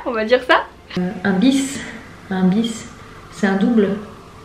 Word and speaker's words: bis: Et enfin, un bis, alors on prononce pas une bise, Marie, c'est vraiment un bis.